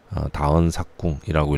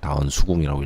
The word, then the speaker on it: 다언삭궁: 여기 지금 다언삭궁이라고 할 때 제가 사기라고 읽었어요. 그거는 우리가 흔히 수라고 읽는데 이것을 부사일 때는 사기라고 읽습니다. 그래서 다언삭궁이라고 읽는 거고요. 다언수궁이라고 읽지 않는 겁니다.